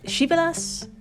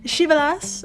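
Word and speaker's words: Krzywy las: kind, please type in Shivelas Kolographina. And if you're completely lost on the spelling, don't worry, I've got you. Shivelas, of course, is spelled nothing like it sounds.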